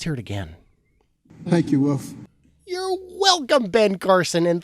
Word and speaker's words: Wolf: Okay, I can appreciate that where you're from, many parts of America pronounce wolf as woof. But this man is not a dog, despite his grizzle-bearded appearance. No, he is a man, and his name is Wolf.